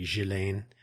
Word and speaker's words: Ghislaine: I don't know what her American prison status is or was, but the British pronunciation, is indeed Ghislaine Maxwell.